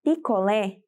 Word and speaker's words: picolé: Agora, lá na letra C, na palavra picolé, eu tenho o lé destacado, ou seja, a última sílaba. Se o lé é a última sílaba e é tônico, eu vou classificar como oxítona.